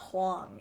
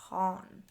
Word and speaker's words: Han: No, it's not Huang. It's Han.